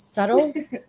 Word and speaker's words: subtle: Subtle? Subtle. It's spelled subtle, but it's pronounced subtle.